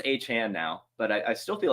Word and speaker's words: Achane: I need to watch this video of how to pronounce it because I know it's Achane now, but I still feel like it's Devon given the apostrophe.